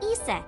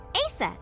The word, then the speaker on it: Isis: horace's mom is named isis but in ancient egyptian it's pronounced closer to isa or asa hmm how do i